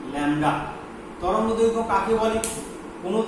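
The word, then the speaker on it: lambda: এটা আমরা ল্যামডা অক্ষর দিয়ে লিখি, উচ্চারণ হচ্ছে ল্যামডা, উচ্চারণটা কি ল্যামডা।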